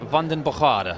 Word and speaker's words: Van den Bogaerde: it exactly right well I've been told by my sources it's London bajada I think that's pretty much what he told me and stay oh that's